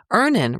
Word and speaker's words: Earnin: 5 million people are already on Earnin, and honestly, we all should be. Download Earnin on the App Store or Google Play, spelled like earning money without the G.